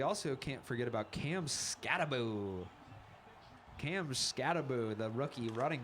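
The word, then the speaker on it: Skattebo: And in addition to to Jackson Dart, we also can't forget about Cam Scataboo.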